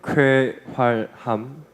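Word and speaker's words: 쾌활함: That expression we can read kweharham. It is really hard to pronounce kweharam.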